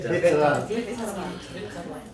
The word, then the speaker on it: Vittala: The first word is Vittala. You say Vittala.